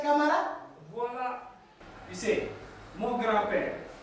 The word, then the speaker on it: Camara: Alors, pourquoi prononces-tu ton nom comme une personne qui bégaye, sachant que c'est Camara?